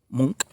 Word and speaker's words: Munch: painted by norwegian artist edward monk pronounced monk who although the founder